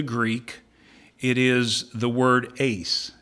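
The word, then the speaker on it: εἰς: language of the Greek it is the word Ace it's spelled e i s okay and it has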